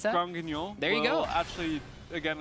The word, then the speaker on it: Granguignol: How do you pronounce that? Grand Guignol.